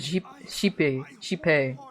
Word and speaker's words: Xipe: How would you pronounce Xipe? They pronounce it Sheepe, but I thought it was Zipe.